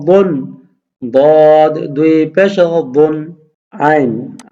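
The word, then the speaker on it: ع: আইন, আইনও হলকের মধ্যখান থেকে চিপা দিয়ে উচ্চারণ হবে আইন দুই পেশ উন, আইন দুই পেশ উন, আইন দুই পেশ উন।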